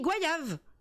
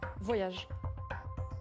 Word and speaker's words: goyave: Mais c'est ce que je dis, goyave. Voyage. Non. On retient la définition. G-O-Y-A-V-E. D'accord, ça s'écrit comme ça, goyave.